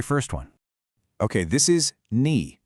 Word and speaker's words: 你: Okay, this is ni, pronounced ni.